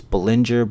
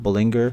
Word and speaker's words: Bollinger: and the Bollinger Bands people keep saying I'm saying it wrong it's Bollinger bullinger but either way there's